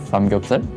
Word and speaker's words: samgyeopsal: Samgyeopsal.